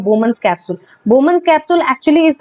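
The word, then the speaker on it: Bowman's capsule: ये जो बोमन्स कैप्सूल है यहाँ पे, ये जो मैंने यहाँ पे मेंशन किया हुआ है, this is हाउ you pronounce it, द बोमन्स कैप्सूल।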